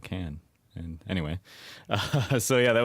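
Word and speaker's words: Cannes: film festival uh which people here told me oh it's Khan you have to be all fancy and say it like that but then I went there and then the French call it can and anyway so yeah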